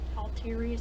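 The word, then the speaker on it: Althirius: Although I had made a studio, I called it Altiria Studios, A-L-T-H-I-R-I-U-S Studios. I like to pronounce T and H together, like just a T and not the.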